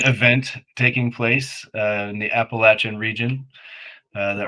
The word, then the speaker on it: Appalachian: Well, it's not secret anymore, but a certain event taking place in the Appalachian region that Oh rhymes with wow, Appalachian Schmungen Schmest.